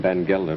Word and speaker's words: Van Gelder: They pronounce his name Van Gelder, but it's spelled Baccarati.